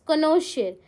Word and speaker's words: connoisseur: The pronunciation is कनोशियर.